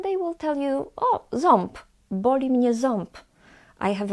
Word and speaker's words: ząb: They might tell you that, no, of course I'm saying ząb, while when you speak to them, they will tell you, oh, ząb, boli mnie ząb.